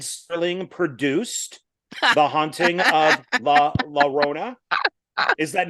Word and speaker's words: La Llorona: The Oh, Haunting of La La Rolla. La La so Rolla. See, I'm saying it wrong. wait, you didn't Well, watch Haunting of La La Llorona? You This is watched what The we're Curse of La Llorona.